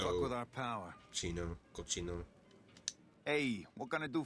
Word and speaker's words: Cochino: Cochino. That's actually, I think that's how you actually pronounce it. It means like sicko or disgusting in Spanish.